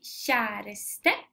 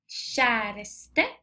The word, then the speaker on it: kjæreste: lydene er litt forskjellig k j uttales som i kjæreste kjæreste s h j uttales som i skjønn kjæreste skjønn kjæreste skjønn